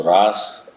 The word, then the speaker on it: रास: और अगर इसकी स्पेलिंग आप देखें आर एस तो रस भी है। रस भी है। कुछ लोग रस भी पढ़ देते हैं।